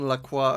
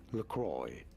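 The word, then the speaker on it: LaCroix: a deep dive on laqua and its additives I don't even know if that's if I'm pronouncing it right am I pronouncing it right yes this is said as lroy Ah lroy that's French what's that French for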